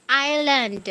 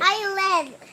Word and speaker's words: island: that is not slide that is island island silent s six one 2 3